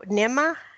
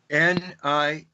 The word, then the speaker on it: Ninmah: Spell that, Nima? Ninmah.